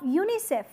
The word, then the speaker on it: UNICEF: United Nation children's found you don't say you and I CF rather you say UNICEF so you are pronouncing as if the as if it is a complete word as it has it